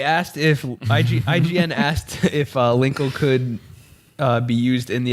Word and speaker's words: Linkle: That was a I- Linkle. It rhymes with tinkle.